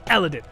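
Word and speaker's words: Elendil: There it is, Eladin.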